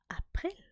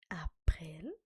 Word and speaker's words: April: Then we have April, and April is actually also spelled the same way in German, but it is pronounced April. April.